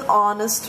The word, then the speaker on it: honest: so you use an Abraham Lincoln was an honest man the H in the adjective on honest is silent therefore you use an notice it's not